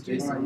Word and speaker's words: JSON: My roommate says Jason. You're correct. Yeah, I've heard a lot of people say JSON. I used to say it, then I researched. I was like, well, now this is how you say it.